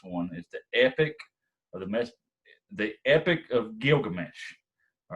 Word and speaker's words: Gilgamesh: The most famous and epic of all the Mesopotamian literature is the story of Gilgamesh. I said it wrong right there. Gilgamesh is what it's called.